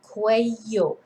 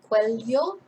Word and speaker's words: cuello: lot hasn't there so el cueyo or el cuello or el cuejo but not el cuello